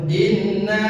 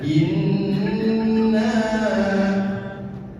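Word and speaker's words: إِنَّا: 1 2 3 inna nun bertasdid hukumnya gunah gunah cara membacanya dita ditahan in jadi jangan langsung inna jangan seperti itapi in digoyang dulu enggak apa-apa inna inna nun bertasdid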